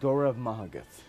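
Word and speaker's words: Go raibh maith agat: Last one is Gurav Mahagat. There is no V in the Gaelic language, so the letters B and H together form the sound V.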